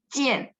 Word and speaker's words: 见: Jian, I-A-N ya, jian, seperti itu ya. Kemarin udah belajar zai jian. Tahu deh Laosi, dia bacanya I-E-N, tapi tulisannya I-A-N ya.